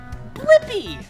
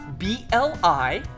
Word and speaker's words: Blippi: Blippi! Yeah, let's spell it together. Ready? B-L-I-P-P-I.